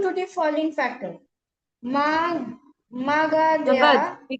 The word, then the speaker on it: Magadha: Magadha We call was it Magad. We pronounce it as Magad.